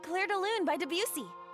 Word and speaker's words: Debussy: Okay, Edward Cullen by Debussy. Kaede, it's actually pronounced by Debussy.